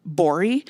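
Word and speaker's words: Gbori: bori live absolutely do his last name is spelled g b o r i gabori David it's just it's just the be and his Twitter handle is the g is silent good but it looks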